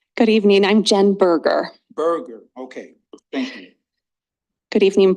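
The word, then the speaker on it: Boerger: you say it good evening I'm Jen berer Burger okay thank you good evening board um as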